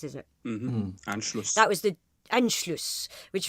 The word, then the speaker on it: Anschluss: Now, the last Nuremberg rally in 1938 celebrated Anschluss. That's how it's pronounced, isn't it? Mm-hmm. Anschluss.